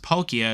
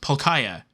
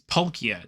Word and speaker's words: Palkia: and tell me that it's not pronounced Palkia it's it's pronounced palkaya and I'm like what like that doesn't make any sense it's not three syllables it's two polkia not polkaya and and as I've